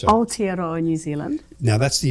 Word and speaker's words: Aotearoa: Well, isn't New Zealand, I'll get Lou to pronounce it so I get it. So it's Aotearoa, New Zealand. Now, that's the official name of New Zealand now, isn't it? So, again? So Aotearoa, which means land of the long white cloud.